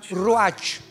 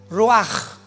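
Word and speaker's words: רוח: Apunta la palabra espíritu en el hebreo es como suena roach. Raúl u a c. Pero la ch en el hebreo se pronuncia como j. Roaj.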